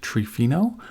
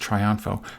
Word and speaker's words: Triunfo: as the winner again, my name isn't pronounced Trifino, which is a good try. It's pronounced Triunfo.